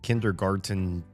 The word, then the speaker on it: kindergarten: And we also are going to be playing some kindergarten 2. I feel like very few people know that there's a T in this word kindergarten because we at least in the US we don't pronounce it.